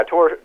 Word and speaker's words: Tor: Is it Torre St. Morin? Yeah, Tor. I call him Tor. Tor okay. St.